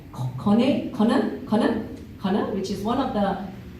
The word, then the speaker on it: KONE: We've got 2 HR practitioners from very diverse industries, and which is Minna from, let me get this pronunciation right, KONE, which is one of the, I just learned,